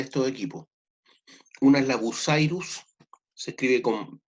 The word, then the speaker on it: Bucyrus: Una es la Bucyrus, se escribe con B larga, U-C-Y-R-U-S, Bucyrus, y también está la PIH, PIH.